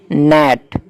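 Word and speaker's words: gnat: आपको next word है नेट नेट इसमें भी जी साइलेंट है इसका मतलब है मच्छर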